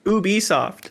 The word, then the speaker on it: Ubisoft: making fun of me is it iworks i've always called him ub works but i don't know if that's because in dragon ball there's a character named oob anyways what's that leo ubisoft that's how it's pronounced i'll be damned um